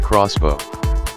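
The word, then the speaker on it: X-Bow: Then along comes the KTM X Bow, pronounced crossbow.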